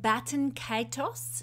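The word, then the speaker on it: Baten Kaitos: This fixed star is called Baton Kaitos. I'll spell it for you, B-A-T-E-N-K-A-I-T-O-S.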